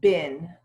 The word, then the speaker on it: been: And we'll pronounce it bin.